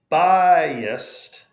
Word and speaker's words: biased: Now, biased really should be a two-syllable word, but when we have I and A next to each other, remember one is a front vowel and A is a back vowel. So we make like that Y bridge.